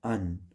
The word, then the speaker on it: an: उसी तरह ए एन को एन, ठीक है, और द को डी।